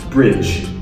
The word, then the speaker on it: bridge: The pronunciation should be very short. J, just like jump.